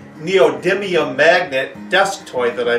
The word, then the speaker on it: neodymium: year had to be the neodium excuse me neodymium magnet desk toy that